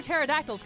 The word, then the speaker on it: pterodactyls: Tonight, why can't you hear pterodactyls go to the bathroom? Because the P is silent.